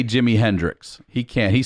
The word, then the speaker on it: Jimi Hendrix: oh yeah a little bit he can't say jimi hendrix he can't he says jimmy hendell that's how he pronounced that okay by the way deaf people